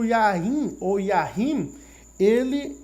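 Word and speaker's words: יין: É importante você compreender, primeiramente, que existe uma palavra chamada Yain. Essa não é a pronúncia correta no hebraico, mas é a pronúncia correta do português. Yain ou Yahim.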